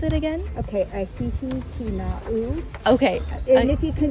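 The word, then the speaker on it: ʻĀhihi-Kīnaʻu: And how did you pronounce it again? Okay, ahihi kina'u.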